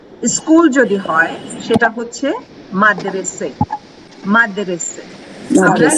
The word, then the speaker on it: মাদ্রাসে: যদি হয় সেটা হচ্ছে মাদ্রাসে মাদ্রাসা। আমরা কি বলি, বাংলায় কি বলা হয়? মাদ্রাসা, তাই না? মাদ্রাসা। যেখানে ধর্মীয় বা দ্বীনি পরীক্ষা, দ্বীনি পড়াশোনা। কিন্তু ফার্সিতে মাদ্রাসে উচ্চারণটা কি হচ্ছে? মাদ্রাসে।